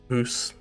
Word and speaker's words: house: It's the same with house and mouse. Ground and pound. So house and mouse become Hoose and moose and ground and pound become grooned and pooned.